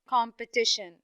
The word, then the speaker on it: competition: third syllable very good now we have the word competition competition very good i have yes very good i have the first syllable come and then i have the third syllable t yes competition okay okay now in the word